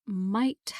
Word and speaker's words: might: how do you spell might mark m-i-g-h-t yes so it rhymes with the word night as in night and day and the spelling is